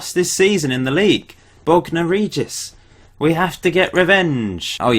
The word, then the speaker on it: Bognor Regis: Yeah, let's just go with Bognor Regis, as that's how it's pronounced.